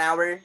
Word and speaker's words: hour: is a vowel an hour an honor and hod and mp an honest person an hourglass h is silent here next one a hype